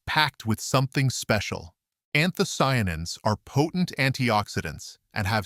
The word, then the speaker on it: anthocyanins: It's a group of powerful natural compounds called anthocyanins, pronounced anthocyanins.